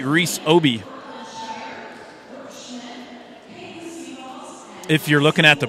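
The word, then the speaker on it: Aaby: And there is your libero, senior, number 3, Reese Obi. If you're looking at the program, Jenna, Reese's last name is spelled A-A-B-Y, but I did check, and it is pronounced Obi.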